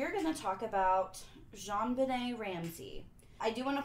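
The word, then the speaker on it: JonBenét: me all right so Jean Benet wait baby named after her dad John Bennett so this is the French pronunciation and her middle name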